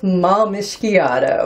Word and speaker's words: Malmischiato: so thrilled to have you here for intuitive malmishgiado nice pronunciation thank you it took a few tries